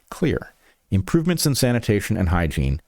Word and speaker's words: Xlear: It's Xlear that's X L E A R pronounced clear.